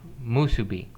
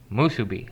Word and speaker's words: musubi: he cooked an authentic hawaiian dish called spam musubi uh it's taken me quite a while and